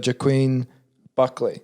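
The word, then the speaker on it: Joaquin Buckley: it right because there's lots of ways to pronounce that name but it's uh jaquin buckley yeah and that is how you say his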